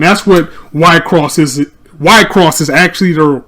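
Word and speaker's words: WIXOSS: dark chow and that's what white cross is white cross is actually the correct pronunciation some say wixes is actually y cross basically what it is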